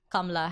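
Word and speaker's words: Kamala: say her name that's so interesting so yeah Kamla Harris awesome also awesome oh my god come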